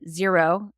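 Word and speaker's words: Xero: property owners there is another accounting software called zero and that's spelled x e o and one is called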